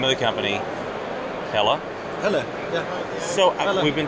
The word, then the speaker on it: Helle: Helle, yeah.